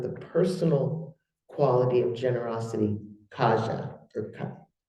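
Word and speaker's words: cāga: personal quality of generosity, kaja, or kaga, I'm not sure how to pronounce it. Do you know? C-A-G-A. Kaga. Yeah, there is a gut sound in Pali, so it probably is a kaga.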